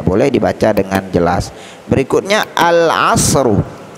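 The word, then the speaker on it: العصر: Berikutnya al-asru, al-asru, ainnya termasuk huruf qamariyah. Oleh karena itu cara membaca alnya dibaca dengan jelas dan terang.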